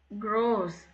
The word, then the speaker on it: Groß: க்ரோஸ் long.